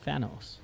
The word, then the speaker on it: Thanos: Thanos. Okay. Yeah, because I sometimes mispronounce the TH.